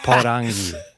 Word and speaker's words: Porangi: Parangi, I said that so white, but it's Porangi. That's how you would say it. You made fun of me for saying it like you just said it the first time. Damn it. Porangi.